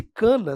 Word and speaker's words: cana: cana casa e cana esse cana se você pronunciar aí você vai perceber que o som ó ó tá meio passando pelo nariz Parece que você tá falando meio gripado cana cama Isso é